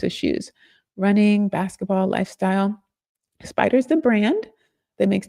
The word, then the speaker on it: SPDR: When you see SPDR in finance, that's pronounced SPIDER.